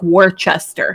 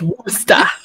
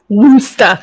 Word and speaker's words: Worcester: to say it because the city looks like Worcester. Mm-hmm. No. It's Worcester. Woosta.